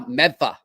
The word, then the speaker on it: Medford: you're staying right now, Medfa. That's what they call it, Medford, Mass. Medfa. That's how they say it in Boston.